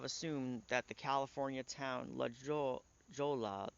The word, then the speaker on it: La Jolla: that the California Town La Jolla the double l in Spanish is pronounced as a y is simply a misspelling